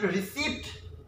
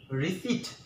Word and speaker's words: receipt: mall if it received no it's not received the right way to pronounce each receipt not rigid okay not received or rested open is receipt receipt the pronunciation of the sound of P is silent okay I got a